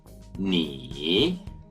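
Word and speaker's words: 你: war then we have you singular which is knee knee then we have he chinese we have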